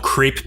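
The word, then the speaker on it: crape: there's a thing called crepe paper, which is literally spelled differently. It's C-R-A-P-E, so it makes sense to pronounce that crepe.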